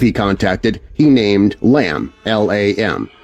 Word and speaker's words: Lam: The entity he contacted or believed he contacted, he named Lam, L A M. Some pronounce it Lawn, but after a little research, I found that most people who know say Lam.